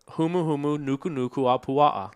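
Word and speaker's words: humuhumunukunukuāpuaʻa: Humuhumu nuku a puaha. Can you spell that?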